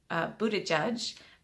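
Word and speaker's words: Buttigieg: was a Pete and you pronounce his name Buddha judge the would seek Yaga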